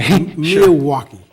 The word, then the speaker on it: Myawki: Myawki. Right. That is a... First of all, congratulations on pronouncing it so correctly.